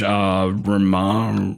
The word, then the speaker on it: Romero: original Dawn of the Dead, which was George Romero.